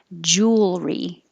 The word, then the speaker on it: jewelry: Jewelry, jewelry. And if you just say the word jewel, it's almost two syllables. It's almost jewel, but without being so clear, jewel. Just kind of round your lips, jewel, and come back, jewel.